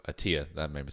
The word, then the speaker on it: Attia: of happiness with Peter is it ayada is that how you say his name uh Peter attia oh see there you go attia that made me sound